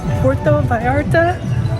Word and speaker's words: Puerto Vallarta: Alright, we are here in Puerto Vallarta.